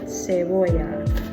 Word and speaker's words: cebolla: that in Spanish, how you say onion is cebolla. So you spell it in case you want it, that makes it easier to pronounce. It's C-E-B-E-L-L-A. And you pronounce it cebolla.